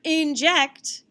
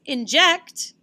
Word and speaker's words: inject: This word inject doesn't sound as good as inject. You get an injection when you get a shot or at the doctor's office. So that's why the syllable, or the accent mark, the accent mark is on the second syllable.